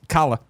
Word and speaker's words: Kala: But of course, Kala. I'm always afraid it's Kayla, but Kala is how it's spelled, so we're gonna say Kala.